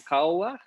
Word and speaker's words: Koawach: uh today we are hosting daniel duarte from kawa am i pronouncing that correctly yeah perfectly daniel tell us